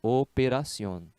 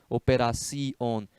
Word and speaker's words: operación: uma sílaba mais ou o operación não é assim operación é operación então o assento deve ser na vogal forte né lembra aí do que